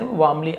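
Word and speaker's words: warmly: An elderly watch maker, एक बूढ़ा घड़ी बनाने वाला, वेलकम हिम वार्मली, यहां पर भी वार्मली ऐसे, वार्मली आर थोड़ा सा साइलेंट होता है, तो उसे बड़े ही गर्मजोशी के साथ उसका स्वागत किया।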